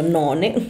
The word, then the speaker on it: none: in una parola sola, scritto appunto none, ma si pronuncia non, che non è appunto no one.